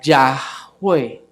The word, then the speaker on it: Yahweh: ya en otras oportunidades la manera más correcta de pronunciarlo habría sido ya de manera que por esto Aleluya dice aclamen a Yahweh me explico a clamen